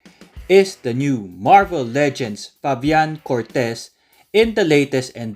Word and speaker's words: Fabian: Taking a closer look at Fabian Cortez, I believe the correct pronunciation is Fabian because he is Spanish.